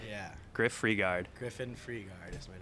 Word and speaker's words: Frigaard: good how you doing how do you pronounce your last name I've never said it before pronounced freegard freegard yeah Griff freegard Griffin freegard is my